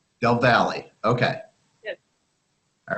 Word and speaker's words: Del Valle: We pronounce it Del Valle High School. Del Valle.